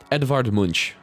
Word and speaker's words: Edvard Munch: I just don't know how to pronounce the name. Yeah, Edvard Munch.